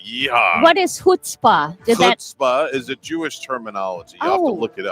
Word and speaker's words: chutzpah: z p a h starts with a c h but pronounced like you're getting something out of your throat in the jewish side